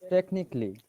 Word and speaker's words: technically: you remember that okay and also if that is a l y we do not pronounce a we ignore a for example this word basically basically very good how about this one technically very good bravo well